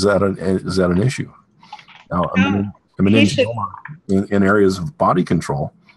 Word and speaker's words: meningioma: A meningioma?